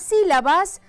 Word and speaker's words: sílaba: Aquí la sílaba tónica es la sí. Dicho sea de paso, es una sílaba que tiene tilde, es decir, un acento ortográfico que se marca.